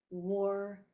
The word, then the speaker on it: war: W-A says wa, but if you put an R after it, then the A is going to not say ah anymore. It's going to say O.